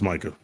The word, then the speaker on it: Micah: Micah, whatever, how you pronounce his name? Yeah, Is it Micah or Micah? It's Micah.